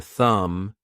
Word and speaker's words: thumb: How are learners supposed to guess that the K in night or the B in thumb is silent?